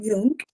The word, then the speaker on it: Jung: really love his work his name is k Yung Jung is written as J Kung j j n g but it's pronounced y k he's the founder of modern